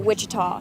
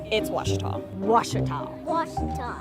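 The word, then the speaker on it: Ouachita: Baptist University back in everybody pronounces it witch but really it's was how would you pronounce it was it's was Baptist University get it right it's was people it's was the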